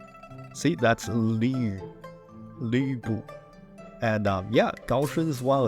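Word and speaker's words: 呂布: That is a hard word to pronounce for a lot of Westerners, but the name is Lu Bu. See, that's Lu Bu.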